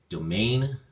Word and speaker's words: domain: Domain has 2 syllables, and the emphasis or stress is on the second syllable, main. So we say domain, domain.